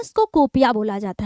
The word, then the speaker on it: kuppia: तो इसी बेल्ट को ही क्या बोलते हैं बच्चों, ये नोन एज मतलब किस नाम से जाना जाता है, कूपिया, ठीक है, कूपिया।